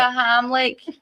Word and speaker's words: Heimlich: the Heimlich, what is it called?